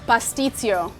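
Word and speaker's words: pastitsio: Pasticcio.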